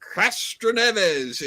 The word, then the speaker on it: Castroneves: What was the average speed of the race of winner Helio Castroneves in 2021?